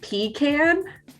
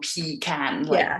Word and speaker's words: pecan: So I say pecan. So it's a really long pecan, really, really long.